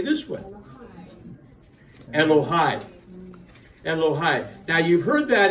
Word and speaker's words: Elohai: Elohai. Elohai. Now, you've heard that in a recent song. Yeah. Now, so we sing this. Elohai. But Elohai means my God. I like it because it's personal. Elohai.